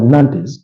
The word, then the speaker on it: Nantes: all draw against against not or Nantes as some of you prefer to pronounce it but it's not that was on